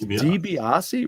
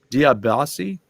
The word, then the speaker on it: DiBiase: man lance dibiase dbs it's dibiase really db us it's not diab diablasi because it's spelled like that d-i-a-b-a-s-e diop diabasi all right